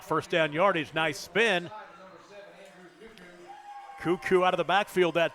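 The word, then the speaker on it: Kukuk: about Andrew cuckoo's name you spell it k-u-k-u-k looks like KU kuk it is cuckoo second down and seven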